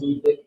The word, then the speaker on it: Ludwig: Is it Ludwig or Ludwig? It's pronounced Ludwig, but it's with a W.